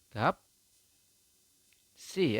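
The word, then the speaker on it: 값이: gaps seperti itu teman-teman Jadi anda membacanya adalah gap si jadi siotnya naik ke atas ke sini ya ke I yang ya di sampingnya I teman-teman seperti itu Saya rasa bisa dipahami teman-teman ya Anda membacanya adalah gapsi seperti itu untuk contoh yang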